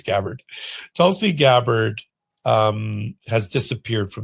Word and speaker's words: Gabbard: So Tulsi Gabbard, we can have a debate about how to pronounce her name, but I think it's Gabbard.